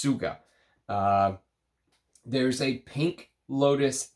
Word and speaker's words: Tsvga: house of TS Suga tsvga is how it's written but it's pronounced Suga uh there's a pink